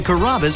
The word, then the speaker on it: Carrabba: pretty good you know Carrabba it's a really easy name to pronounce it's karma come to Carrabba's for dinner enjoy chicken